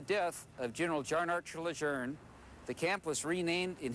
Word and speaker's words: Lejeune: pronounced most people tend to call it Camp Lejeune but the pronunciation of the generals name is actually Luzerne instead of Lejeune despite the phonetics one thing was certain Camp